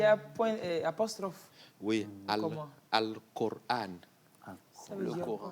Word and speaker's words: Al-Qur'an: Donc, on prononce Al-Qur'an. Mais en français, on dit Coran. Oui, on dit le Coran. Non, c'est Al-Qur'an.